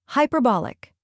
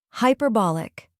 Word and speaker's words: hyperbolic: like hi in Highway next is per which rhymes with her and is the stressed syllable then comes b a